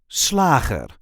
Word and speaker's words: slager: is how we say sler SL there is a light emphasis on the first syllable SL SL sler this